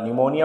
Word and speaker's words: निमोनिया: में से निमोनिया का, निमोनिया होता है ये जो होता है इसमें पी जो होता है साइलेंट होता है, तो निमोनिया का मानव